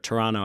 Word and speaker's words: Toronto: And especially if you don't live in New York, Miami, or Toronto, or Toronto, I guess, as they say. Yeah, they don't pronounce the T.